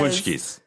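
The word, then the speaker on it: pączki: Like here in Chicago, we do pashkis. Yes. Punchkis. They're pronounced punchkis, which is Polish, and that's just like a fatty donut filled with cream.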